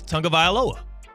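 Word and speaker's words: Tagovailoa: mispronouncing it here in America but it is Tong of V aloa that's that's just how you pronounce it now I get that the English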